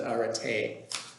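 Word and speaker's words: ἀρετή: over the last d to indicate it's not pronounced erit but are ate okay so arate is sometimes translated as excellence all right excellence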